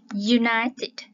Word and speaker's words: United: phát âm là D bởi vì á cái chữ U này á Tuy là viết là cái nguyên âm các bạn ha Nhưng mà khi phát âm á thì nó phụ âm Ha un United các